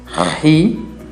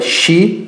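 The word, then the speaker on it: χ: Percebam que o som que eu estou fazendo é um som que vem da garganta, um som gutural, e esse é o som da letra Ri. Não é Xi, mas Ri.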